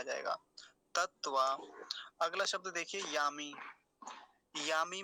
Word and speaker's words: तत्व: अब तत्व में एक काम की बात ये है कि 2 तकार हैं और दोनों ही कैसे हैं? हलंत हैं, आधे हैं। तो उनका दोनों का ही उच्चारण बहुत कम समय के लिए होगा।